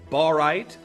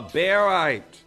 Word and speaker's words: barite: the pronunciation of this I know a lot of you know it as borite but its name is derived from its uh chemical element of barium so really uh beite both I hear both